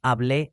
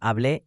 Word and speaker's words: hablé: Notice the accent marks on hablé and habló. These aren't optional decoration. They actually change which syllable is stressed, and without them, the word can be confused with a different tense.